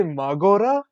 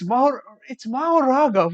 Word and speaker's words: Mahoraga: Did he say Magora? Bro, it's Mahoraga.